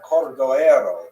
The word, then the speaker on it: Cordoero: his matzeva, his gravestone, it's Cordoero. It's a Portuguese spelling, but it's kind of a strange thing to pronounce in Hebrew, so it was sort of mangled into Cordovero, and that has become the standard, even though it's probably not correct.